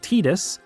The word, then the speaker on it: Tidus: According to James Arnold Taylor, the reason the official English pronunciation is Tetus, as he was told during one of his